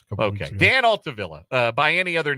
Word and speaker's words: Altavilla: Dan Altavilla. It is not. Is it not Altavilla? It's Altavilla. Is it Altavilla? Yeah, Okay. we had a whole thing about this a couple weeks ago. Dan Altavilla.